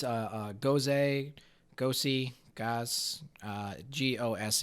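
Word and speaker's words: Gose: up before the show it's a goes a go see gas gos e is how it's pronounced and it is bruised with raspberry in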